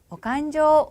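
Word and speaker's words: お勘定: 오칸조 오네가이시마스 이렇게 됩니다. 오칸조, 간조라고 읽는다는 것, 그 읽는 방법 자체를 잘 기억을 해 두시면 되겠는데요.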